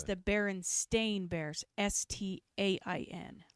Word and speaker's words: Berenstain: It's the Berenstain Bears. S-T-A-I-N. Like a stain on clothing. Not Stein, not a... The Berenstain Bears.